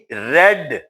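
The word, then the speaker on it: read: मैंने एक दिलचस्प किताब पढ़ी, आई रेड, ये स्पेलिंग तो रीड वाले ही है मगर ये रेड है, रीड, रेड.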